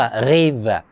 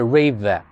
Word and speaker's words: Rewe: 那个超市连锁店叫 Rewe，我是德语发音，那英语我读出来就是 Rewe。